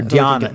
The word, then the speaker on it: dhyana: Yeah, jhana or dhyana. Dhyana, if you want to be Sanskritier, but I like jhana because I'm more Pali most of the time.